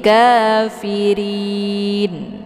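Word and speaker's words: كافرين: Jadi pangkal lidahnya tidak boleh terangkat ke langit karena ra ini ee tidak boleh dibaca tebal ya. Jadi riharakat kasrah barisnya. Jadi kafirin posisi mulutnya ee terbuka ya kayak orang senyum kafirin ya bukan nain. Ah itu bacaan yang salah.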